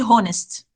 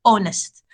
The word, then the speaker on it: honest: write with h but we don't say the h it's a silent letter and honest uh is uh is a word with the silent letters we will write honest